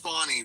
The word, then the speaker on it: Fani: But what I can say, also, I think it's, Tim, I think it's pronounced, her name is pronounced Fani, by the way. Okay, Fani Willis. It's pronounced Fani Willis, and I definitely agree with the judge.